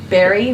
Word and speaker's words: Berri: So we have the PO box in the our PO box is box 58, Berry, which is spelled BERRI, South Australia, Australia 5343.